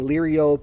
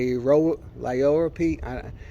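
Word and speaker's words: liriope: always say it wrong I keep saying lyriope and it's like lioro P thanks for trying to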